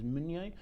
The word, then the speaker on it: Meunier: um not everybody calls it Pinot Monier anymore it's now tending to be referred to as mignier this is bottle number